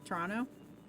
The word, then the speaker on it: Toronto: Toronto? It's like Atlanta. With Atlanta, you don't pronounce any of the T's.